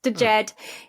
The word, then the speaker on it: Djed: Yeah, Djed. You've got a very sophisticated French accent with it. It's just Djed.